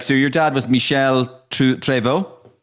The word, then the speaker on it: Treyvaud: I can't remember much about it obviously for obvious reasons, but like So your dad was Michelle Tvo. Tvo. Spot on. Yeah. Well, well pronounced.